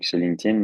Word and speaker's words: LinkedIn: question on prononce nous on dit toujours qu'on prononce LinkedIn c'est c'est comme s'il y avait un T à la place du D LinkedIn VO donc l'idée c'est vraiment de de vous